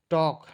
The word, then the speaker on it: talk: टॉक, टॉक, TALK, LA silent होता है, इसको नहीं पढ़ते हैं, ठीक है ना।